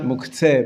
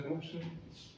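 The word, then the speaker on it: מוקצה: The proper pronunciation is Muktzah in Hebrew, but thank you, David. It's commonly pronounced Muktzah, or Muktzah, Muktzah, not Muktzeh, but it doesn't matter. It's the same thing.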